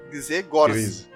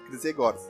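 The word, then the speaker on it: Grzegorz: Gryzé Gorz. Gryzé Gorz.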